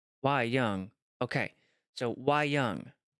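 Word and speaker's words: wayang: we young means puppet let's see what how to pronounce it why why why why young okay so why why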